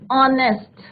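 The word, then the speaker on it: honest: एन ऑनेस्ट, तो एच क्या है यहाँ पे? साइलेंट है। प्रोनाउंसिएशन किसका हो रहा है? साउंड किसका आ रहा है? ओ का। और ओ क्या है आपका?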